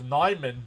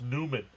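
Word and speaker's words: Nyman: Oh, it's pronounc it's it's Nimon, but it's pronounced Newman. It's spelled N Y M. My guess is with that U sound on the Y, he's from Finland.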